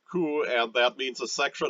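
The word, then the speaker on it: 区: The box with an X is pronounced ku, and that means a section of a large city.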